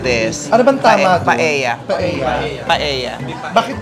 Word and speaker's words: paella: Paella negra. Oh, Negi, you will enjoy this. Ano bang tama doon? Paella. Paella. Paella. Bakit L yung nilagay? You don't pronounce the L.